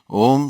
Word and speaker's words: Om: ohm is important that in the West we very often say oh it is actually the wrong pronunciation of all ohm should be set with a mouse in which there is no tension so if we say oh there is a tension in the lips like if we say